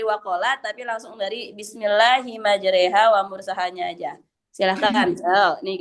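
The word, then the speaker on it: مجراها: Bismillahi majreha wa mursyaha. Jadi, Ustazah itu harus tulisannya majriha tapi dibacanya majreha gitu ya.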